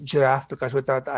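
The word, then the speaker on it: Giraph: graphs uh jf is very interesting so it's pronounced giraffe because without the it's graphite you have new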